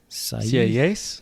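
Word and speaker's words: Sieyès: that the nation, and he quotes, is it Sayes? I don't know how to pronounce that person's What page name. on? 218. It's S-I-E-Y-E with an accent, S. CAAs?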